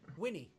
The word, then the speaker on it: Winni: Winnie. Yeah. W-I-N-N-I is pronounced. It's pronounced Winnie. It doesn't have an E at the end though.